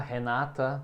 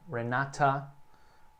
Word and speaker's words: Renata: Você pode pronunciar Renata ou Renata. O T no inglês americano aqui, ele acaba meio que sumindo. Renata. Como você se sentir mais à vontade, né? Renata, Renata, Renata.